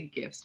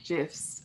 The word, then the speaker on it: GIF: lot of these gifs i always say gifts but i'll say it right gifs on twitter and everything so yeah